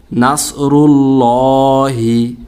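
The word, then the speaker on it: نَصْرُ اللَّهِ: তো উচ্চারণটা হবে নাসরুল্লাহি।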